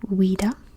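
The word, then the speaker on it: Ouidah: atlantique which is weda now this name has gone through a lot of different pronunciations it's currently weda um which is the French version of what the locals would called it which is haa or I've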